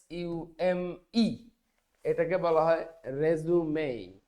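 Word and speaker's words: résumé: হয়ে যাবে কিন্তু যখন এটা নাউন তখন এর উচ্চারণ কিন্তু রিজিউম না তখন এর উচ্চারণ হচ্ছে রেজুমে রেজুমে শব্দের অর্থ হচ্ছে জীবন বৃত্তান্ত এবং এটা কেবলমাত্র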